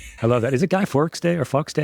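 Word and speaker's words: Guy Fawkes: worry you okay I love that is it guy Forks day or fox day how do you say his name it's a remember remember the 5th of November guy fox day for V for Vendetta right so great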